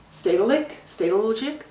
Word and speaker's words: Stedelijk: Stedelijk? It's, you probably don't pronounce the J, but basically it's like their modern art museum.